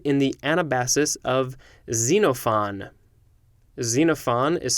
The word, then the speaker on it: Xenophon: asia minor described in the anabasis of xenophon xenophon is spelled x e n o p h o